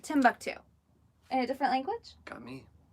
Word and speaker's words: Timbuktu: at this it's Timbuktu somebody just said wait come on this is Tom buck - yeah but fate or fated said it was Timbuktu oh is Timbuktu oh it's how you say it Timbuktu a different language got